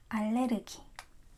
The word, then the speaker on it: 알레르기: allergy. And I'm going to erase this because it's not a question, it's a statement. allergy 있어요. allergy. It's actually allergy. Allergy, that's the Korean pronunciation.